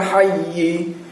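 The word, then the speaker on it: حَيّ: Pada saat kita wakafkan maka bunyinya menjadi minal hayy. Yi-nya tidak kita munculkan, tapi terdengar adalah hayy. Tapi yi-nya itu sudah siap-siap untuk kita ucapkan, tapi tidak jadi karena memang dalam posisi wakaf. Nah, jadi cuma membentuk saja di dalam rongga mulut kita. Minal hayy. Hayy, suara saya adalah hayy. Nah, bukan minal hayyi, bukan hayyi, tapi hayy.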